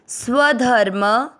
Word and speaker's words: स्वधर्म: पहला चरण आधा स, उसके साथ पूरा व, स्व स्व, ध पूरा ध, म के ऊपर आधा र, ध के साथ धर और म पूरा है, म में अमिक्स करेंगे धर्म, स्वधर्म, म में अमिक्स करते हुए